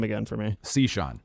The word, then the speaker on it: Cichon: is strange yeah that is super strange so pronounce your last name again for me c sean c sean okay i gotta remember i got